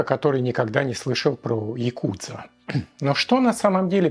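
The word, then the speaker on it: ヤクザ: даёт ноль ноль очков к такой комбинации приводят карты 8 93 что в игре оч Каб произносится как Якудза но Прим здесь вообще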